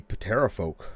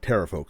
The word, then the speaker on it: Pterafolk: And yeah, um I'm excited to be talking about the Peterapolk or Terapolk. Sorry, didn't mean to pronounce that uh that hard P there.